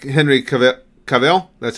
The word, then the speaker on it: Cavill: probably remember Tristan I really like Henry Cavill Cavill that's how it's pronounced I like Henry Cavill as Superman right